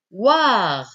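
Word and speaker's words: -oir: La terminaison OIR. OIR. O-I-R. Prononcez war, war.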